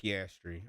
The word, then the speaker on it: Piastri: It's Piastri. Okay, Piastri. Piastri. Oscar Piastri.